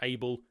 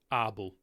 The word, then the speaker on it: Abel: but do remember that it is not pronounced able it is pronounced arble sorry again good day